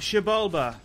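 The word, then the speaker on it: Xibalba: How's that pronounced? Jabalba.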